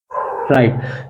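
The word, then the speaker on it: right: Like to highlight here, कि जीएच का उच्चारण, जीएच के पूर्व अगर कोई ना दीर्घ मतलब वावेल यानी स्वर हो, तो जीएच का उच्चारण मुख यानी साइलेंट होता है, जैसे कि राइट, आर आई जी एच टी। तो इसको क्या बोलते हैं एक्चुअली में, राइट।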